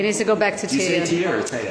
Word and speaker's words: Teia: to go back to tv i say yeah because i'm from brazil so that's how you pronounce it but a lot of people say tiana the whole world